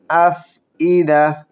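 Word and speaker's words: الأفئدة: আল্লাতী তাত্তালিউ আলাল আফইদা আফইদা ফা একটু ধরে রেখে বাতাস ছাড়ব।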